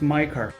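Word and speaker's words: 迈克尔: In Chinese, Michael is written with the three characters Mai, Ke, Er. Michael in Chinese is pronounced Maiker.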